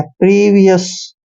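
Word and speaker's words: previous: उच्चारण व करेंगे और आई ओ यू एस को ई एस पढ़ना है प्रीवियस पहले ही प्रीवियस पहले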